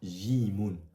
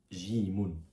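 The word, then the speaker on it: جيم: Je vois qu'ils sont pas visibles mais la première lettre que tu vois juste ici se prononce Jimun. C'est l'équivalent du J en français.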